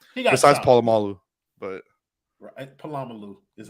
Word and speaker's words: Polamalu: He got besides Polamalu, but Polamalu is how you say that.